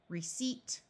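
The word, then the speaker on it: receipt: cing conceive receive deceive receip this p is silent and perceive and all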